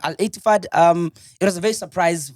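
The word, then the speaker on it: Al-Ettifaq: No, it's Al Ettifaq. Yeah, Al Ettifaq.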